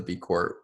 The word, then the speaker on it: B Corps: There's another B Corp, but hers is with the ES. So B Corps, pronounced B Corp.